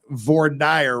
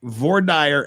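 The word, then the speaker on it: voir dire: from Paris France says if it's based on French yes it's vaer yes it is based on French but H the French also not only do the French pronounce VOR dire wrong they they also pronounce croissant wrong and things like that too but we won't we won't make too much fun of you H la la Pat just you know remember it's it's vire and croissant uh just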